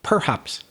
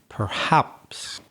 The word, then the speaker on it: perhaps: about your pronunciation danielle i think you got the stress wrong on the word perhaps it sounded to me like you were saying perhaps you were like stressing the first syllable it's hard to say maybe it was just the the audio quality but i just wanted to clarify that the stress the strong syllable is the second one perhaps and we have spoken